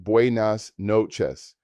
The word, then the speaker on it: buenas noches: Good evening or good night is buenas noches, pronounced buenas noches.